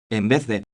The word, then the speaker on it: en vez de: Le V est prononcé comme un V français. Souvent les apprenants ont tendance à le mettre ou à le prononcer comme un B, ce qui change le sens.